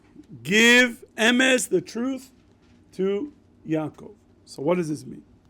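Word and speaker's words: יעקב: One pronounced Yaakov, good, and one pronounced Yisrael, okay, good.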